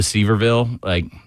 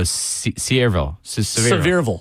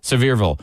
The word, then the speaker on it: Sevierville: the way home to Seaverville. Just absolutely. Did I just mispronounce the Tennessee city name? Which one? Oh, I don't want to do it again. Cedarville? No, Sevierville. Sevierville.